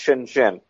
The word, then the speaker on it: Shenzhen: that's most famous is is shenzen pronounced Shenzhen um but in fact